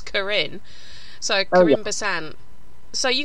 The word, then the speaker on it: Karin: Your surname ain't Karen, is it? It's Karin.